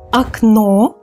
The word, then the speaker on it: окно: So in the singular form, the first O was unstressed. That is why we pronounce it as a окно, окно. Now, in the plural form, it becomes stressed.